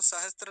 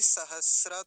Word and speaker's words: सहस्र: तो पहले इसे देखेंगे द्वि सहस्त्र अब इसको सहस्त्र नहीं बोलेंगे द्वि सहस्त्र और तम तम तो पीछे भी आया आया थाना ऊपर तो पूरा क्या उच्चारण होगा द्वि सहस्र तम द्वि सहस्र तमे ऐसा इसका उच्चारण हो